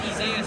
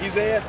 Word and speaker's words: Isaias: It's Isaias, but I just go by Isaiah. That sounds like my name's Fred, but just call me Steve. Which one is it? You could do Isaias. That's a third pronunciation.